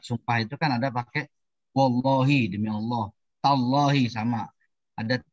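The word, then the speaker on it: وَاللّٰهِ: Bacanya wallahi. Jangan wallahu.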